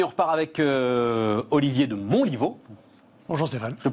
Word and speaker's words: Montlivault: On repart les amis, on repart avec Olivier de Montlivaud. Bonjour Stéphane. Je le prononce bien, Olivier, ça va?